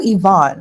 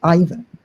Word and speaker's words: Ivan: No, I believe Yvonne is the correct pronunciation. And who in the UK is named Ivan?